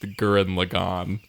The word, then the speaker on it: Gurren Lagann: It's pronounced Gurren Lagann.